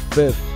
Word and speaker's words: Fif: my man K5 count fifth it's F huh that's what JB was just telling me man he said it's not fifth it's actually fif yeah you can pronounce